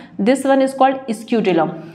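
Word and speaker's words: scutellum: दिख रहा है ना, दिस वन इज कॉल्ड स्क्यूटिलम।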